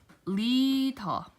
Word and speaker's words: 리더: Okay, so if the lium is in the very beginning of the letter, then, or of the word, then your tongue has to firmly press against the roof of your mouth right above the upper teeth, and then retracts.